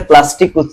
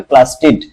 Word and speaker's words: প্লাস্টিড: লেখার সময় ঠিক লেখতো অনেকে এটাকে প্লাস্টিক উচ্চারণ করবে কিন্তু উচ্চারণ হবে প্লাস্টিড প্লাস্টিড কাকে কাকে বলে